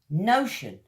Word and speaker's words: notion: Notion. Notion, like the sound ocean.